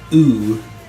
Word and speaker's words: u: Remember to say the u and not you.